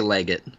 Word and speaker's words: Leggett: I say Leggett. Yeah, I say just both. the most Americanized version you can do.